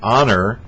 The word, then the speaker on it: honor: Well, honor, spelled H-O-N-E-R, is pronounced as though it starts with O, and that's a vowel sound, so it'd be an honor, not a honor or a honor.